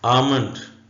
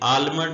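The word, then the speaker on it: almond: में ऐसे लिखेंगे चमकदार साइलेंट लेटर एल आमंड यह आलमंड नहीं है आमंड इसको लिखेंगे उर्दू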